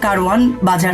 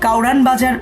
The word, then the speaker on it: কারওয়ান বাজার: পরে সেই কাফেলাকে কেন্দ্র করে গড়ে ওঠে একটি বাজার, যা পরিচিতি পায় কারওয়ান বাজার নামে। যদিও অনেকেই এটিকে কাউরান বাজার বলেও উচ্চারণ করেন।